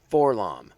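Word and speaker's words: 4-LOM: Boba Fett, Bossk, Dengar, Forlom, or for LOM, depending on how you want to pronounce it.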